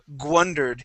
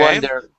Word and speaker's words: wondered: You had a handful of words here where you were saying gwundered, and pronouncing that G, okay, or sorry, that W, like a G sound, saying gwundered. Okay. Wondered. All right. But instead of pronouncing a G, we want to pronounce an oo. All right.